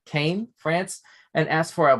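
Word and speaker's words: Caen: i apologize kay liter no not khan c-a-e-n kane france and asked for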